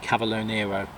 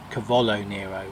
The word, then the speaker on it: cavolo nero: charred black radish turnip and cavalo Nero cavolo nero as i should pronounce it correctly so right we're going